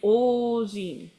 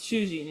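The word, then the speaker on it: 主人: like holding, has a ojin. Sorry, that's not how it's pronounced. That's shujin, isn't it?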